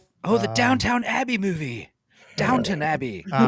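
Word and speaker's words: Downton: Um, today I learned it's Downtown, not Downtown Abbey. Always that's how the British say it down to an abbey. There's no W at the end of there.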